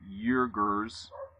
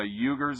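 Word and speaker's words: Uyghurs: the men were reportedly urgers why how do you say that uh why no u y g h u r s get a load of this you want to know who the eugers are a local muslim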